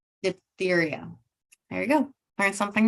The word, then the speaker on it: diphtheria: mumps polio I'm not going to try to pronounce that one cholera bubonically say it again diphtheria diphtheria there you go learn something new the prospect